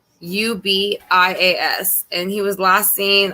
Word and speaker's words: Covarrubias: So, but tonight we're going to be doing a reading on, his name is Nathan Alexander Covarrubias, I believe is how you pronounce it. It's Covarrubias, and he was last seen on the county road 772 near Walnut, Mississippi on May 29th of 2020.